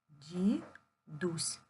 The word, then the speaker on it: дідусь: м'якшення не позначає звуку поділимо слово на склади ді Дусь ді Дусь дідусь наголос падає на у порахуйте скільки букв шість